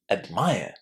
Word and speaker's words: admire: So how would you pronounce this verb? Listen and check. Admire.